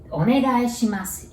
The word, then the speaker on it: Onegaishimasu: So, Onegaishimasu, it means please when asking for something or favor. And pronunciation, Onegaishimasu. So there are 7 characters and 7 sounds.